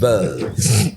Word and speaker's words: Wirtz: Wirtz. It's W and then the U is Wirtz.